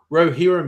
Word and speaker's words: Rohirrim: Do you think Rohirrim is right or Rohirrim is correct? Rohirrim is correct.